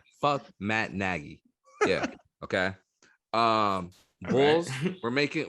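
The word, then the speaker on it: Matt Nagy: maggie did you hear me mac natty yeah i can't even say his name right his name right matt naggy yeah okay um bulls we're making we're making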